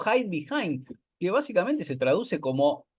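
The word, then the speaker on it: Hidebehind: O ide behind, pero en realidad, claro, hay que pronunciarlo en inglés, porque es Estados Unidos, como hide behind, que básicamente se traduce como el que se esconde detrás, ¿no?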